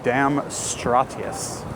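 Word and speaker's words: Damstraatjes: The Dam Straatjes, because we pronounce J's like Y's in Dutch.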